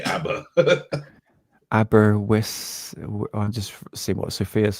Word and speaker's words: Aberystwyth: Aberystwyth.